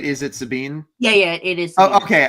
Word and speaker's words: Sabine: I so I said it right is it Sabine yeah yeah it is okay okay I was